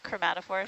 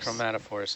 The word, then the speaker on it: chromatophores: Chromatophores. How do you say it again? Chromatophores. Chromatophores.